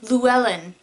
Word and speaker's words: Llewellyn: Apparently you pronounce her name Llewellyn. I totally mispronounced the name in my Samhain video because I'm ignorant, effort.